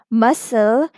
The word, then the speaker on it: muscle: uncle icicle trickle chuckle exception to this rule is muscle where letter C is silent okay so you can